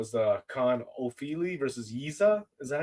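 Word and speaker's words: Yizha: the Khan Ofili versus Yiza. Is that how you pronounce that name? Yes, The yes. Not robbery, Jizza, bro. not Rizza, the Yizza.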